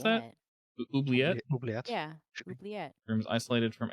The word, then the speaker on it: oubliette: back and retinker stuff, hey, how do you pronounce that? Oubliette? Oubliette.